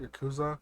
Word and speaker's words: Yakuza: It's basically like if May cafes were a front for mafia yakuza style. Am I pronouncing that right? Yakuza. Yeah. Yakuza.